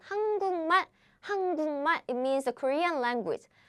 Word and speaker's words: 한국말: So what happens is, this becomes nasal version, 한국말, it means the Korean language.